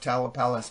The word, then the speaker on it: Tamalpais: Tamalpais? Tamalpais Exchange. Do you know of the Tamalpais Mountain I found it California? when I looked it up was looking them up. It came up Tamalpais Mountain.